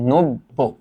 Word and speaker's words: নব্য: উদ্দেশ্যে বলতেছে নব্য এ কথাটার উচ্চারণটা কি জানো উচ্চারণটা কিন্তু এরকম নব্য হ্যা কারণ আমরা এই জিনিসটা কিন্তু পড়ছি যে যদি অধনি শুরুতে থাকে এবং তারপরে যদি একটা জ ফলা থাকে।